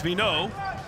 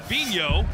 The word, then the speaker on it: Vigneault: I thought it was Vigneault, but Tim Hughes said Vigneault, so that's what we'll go with.